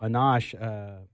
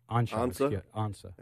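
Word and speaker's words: Ansah: Yeah, and the guy too, Ezekiel Anash, Ansa, thank you, pronunciation.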